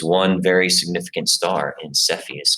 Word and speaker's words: Cepheus: about the significance of each of those now cepheus is how that's pronounced cepheus is another pretty nondescript constellation uh